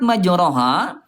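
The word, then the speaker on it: مَجْرٰىهَا: Ya, Bunda kalimat majraha ya ini bunda imalah monyong apa ee condong ya. Jadi pertengahan antara fathah dengan kasrah kayak ke e nih bunda ya.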